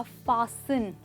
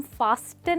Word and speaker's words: fasten: कहते हैं, ध्यान दीजिए, कौन सा लेटर साइलेंट है? टी नहीं बोला, हमने कहा फासन। फासन, राइट दोस्तों। तो हम फास्टन नहीं कहेंगे, हम फासन कहेंगे, जिसका मतलब होता है बांधना।